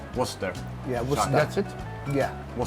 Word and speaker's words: Worcester: do you wer Worster yeah how do you pronounce it Worster Worster yeah that's it yeah wor the sauce it's